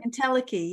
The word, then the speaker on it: entelechy: Entelechy, is that how you say it? Entelechy, yeah.